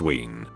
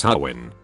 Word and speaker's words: Howin: She proceeds to tell me it's pronounced Ween. I tell her no, it's Howin, and she argues and argues telling me I'm saying it wrong.